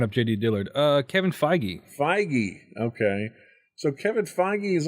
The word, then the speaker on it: Feige: How do you pronounce his name? I was looking up J.D. Dillard. Kevin Feige. Feige.